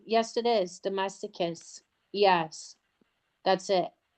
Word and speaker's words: domesticus: And I think it's copronellis dosticus maybe. I'm not Oh, I'm not sure. Um Oh, you know what? Well, it's Yes, it is. Domesticus.